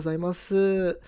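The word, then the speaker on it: ございます: So it's not true that it's not pronounced. It's just that I would suggest you not to pronounce it, just drop it.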